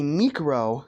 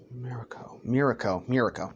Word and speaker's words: Mirko: Ah, God, I can't say her name right. It's pissing me off. Mirko. That's it. Mirko.